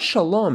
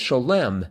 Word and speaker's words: Sholem: Sholem Blank, author of Children of Abraham. And Sholem says it's not Shalom, it's Sholem.